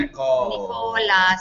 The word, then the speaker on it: Nicola: Nicola. See, I like to say it like Ricola, like the rucola. Like Ricola and the cough drops too.